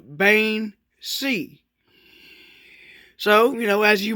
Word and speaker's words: Bean Sidhe: modern irish i believe the old irish translation is bin she and the modern irish is bain c so you know as